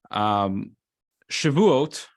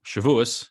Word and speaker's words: Shavuot: Shavuot, or Shavuos, however you pronounce it, celebrates the giving of the Torah on Mount Sinai.